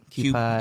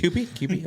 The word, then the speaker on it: Kewpie: Put some Q pie. Yeah, Q pies. Q pie mayo on the other. Kewpie. I'm not like a mayo. Oh, Kewpie. Kewpie. Kewpie?